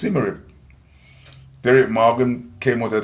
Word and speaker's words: Symarip: So we came up with the name to spell it back way without the D, and it pronounced Symarip.